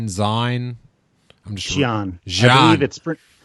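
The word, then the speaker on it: Xi'an: I believe it's pronounced the same way that the syllable she is pronounced in Romanized Chinese. So XI in Romanized Chinese means like she or ji, and that's how they pronounce it in this one.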